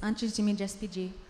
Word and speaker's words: Antes de Me Despedir: So the name of this exhibition is Before I Say Goodbye, or in my very butchered, is it Spanish? Antes? It's Portuguese. It's Antes de Me Despedir.